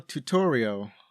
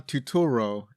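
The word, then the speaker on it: Turturro: was something else John tutoral oh no no that's not how you say his name John tuturo as Carmine Falcone and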